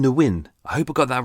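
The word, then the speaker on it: Nguyen: it's spelled n-g-u-y-e-n now the majority of people say it's nguin so should we uh who the win I hope I got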